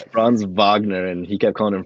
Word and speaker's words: Wagner: this guy bro yeah but um uh fron Vagner I love that Paul Pierce is just calling him Frank Wagner and Frank it's bronze Vagner and he kept calling him Frank Wagner and